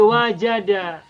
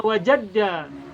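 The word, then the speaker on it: وَجَدَ: l Iya betul jadi wajada Jadi bukan jadda wadda kita sering mendengar ya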